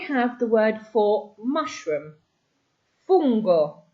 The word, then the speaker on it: fungo: Fungo, not funo. Fungo is mushroom.